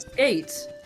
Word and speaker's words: SK8: I pronounced it SK8 Infinity. I didn't know it pronounced skate.